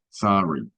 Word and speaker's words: sorry: Some people pronounce it like an O, some people like a little A. Hay personas que usan la pronunciación de O con sorry. Hay otros que utilizan una A muy leve, sorry.